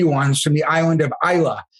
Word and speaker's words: Islay: And a lot of people think they're from the island of Islay, but Smart Dribble listeners know that it's pronounced Islay.